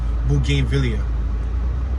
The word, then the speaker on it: bougainvillea: we're now back at bougainvillea it's spelled b-o-u-g-a-i-n-v-i-l-l-e-a that's a mouthful boo game villa unless you want to